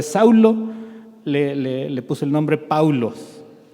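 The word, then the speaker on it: Παῦλος: En griego, el nombre Pablo se pronuncia Paulo, es muy parecido a Saulo, casi nada más cambia la primera letra. En lugar de Saulo, le puso el nombre Paulos.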